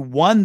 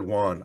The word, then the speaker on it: won: the game is w-o-n they're pronounced exactly the same even though they're spelled different no they're not they're